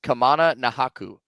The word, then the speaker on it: Kamana Nahaku: right are we sure yes I looked at the game notes kamana nahaku that's how you say his name according to Hawaii nahaku